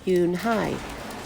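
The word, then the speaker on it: Unhei: spelled you and hei it's pronounced Eun Hye oh it's you and hey the boy said like you hey what about hey you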